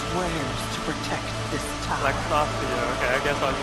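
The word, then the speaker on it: Laxasia: Lexasia, okay, I guess I was pronouncing it wrong.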